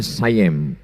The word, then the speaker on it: Siam: Dan ketika Kedah, Kedah sekarang itu Malaysia dijajah oleh Siam, tulisannya Siam. Orang Barat membacanya sayem.